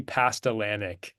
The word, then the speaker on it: Pastlananiec: All right, it's Pastlananiec. That is how you say my last name.